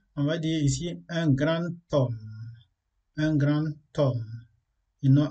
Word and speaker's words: grand homme: h muet lorsqu'on veut faire la liaison on prononce pas deux mais exemple on va dire ici un grand homme un grand homme ils n'ont un grand homme